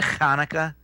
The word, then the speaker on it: Hanukkah: You have to say that the right way, Hanukkah.